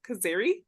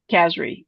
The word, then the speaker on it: Kazri: How do you say him? Kazari? I don't know how you say it, but That's okay, Kazri. Yeah.